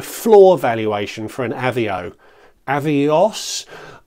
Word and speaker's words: Avios: for an Avio avos I know I pronounce avos weirdly I made an entire video making fun of it a little while ago but I'm going to stick with my pronunciation not withstanding the way ba pronounces it but by converting avos